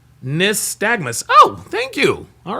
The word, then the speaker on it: nystagmus: Praetorian Guard says pronounced Nystagmus.